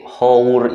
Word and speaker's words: hour: ya misalkan yang karena si hour itu dibacanya awal dan awal itu adalah suara dari vokal jadi kita pakainya jadi